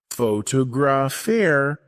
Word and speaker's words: photographer: Photographer, stress on the second syllable.